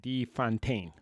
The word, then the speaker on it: de Fontaine: De Fontaine.